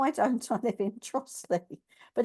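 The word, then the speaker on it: Trottiscliffe: she said no I don't I live in trle but it's actually Trot is Cliff that's the way it's that's the way it's spelled and there's also there's another place in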